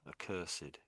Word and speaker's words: accursed: It's one of those strange situations where the the ed sound is a bit odd. A cursed.